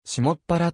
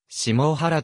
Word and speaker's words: 下原: 西北端に当たる一部に下原をしもっぱらと呼称する意見があり下原水顔しもっぱらスイカと読む向きもあるがこの集落に住む人はしもう腹と呼んでいる地域では